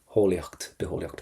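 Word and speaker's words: bitheolaíocht: But the main thing you know now is never to pronounce that T. Beholiocht for biology.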